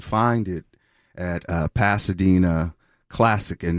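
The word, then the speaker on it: CLSC: Yeah, it's it's supporting the Dena Dena relief drive and uh you can find it at uh Pasadena Classic and that's C LSC pronounced classic.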